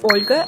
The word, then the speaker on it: Olga: from Eastern Europe, chances are their name is pronounced as Mikhail. The next one is Olga, and there's actually a male equivalent to that